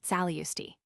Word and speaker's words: Tsalunayustai: In the same way Tsalunayustai, like tobacco, the cardinal flower is pronounced Tsaliusti.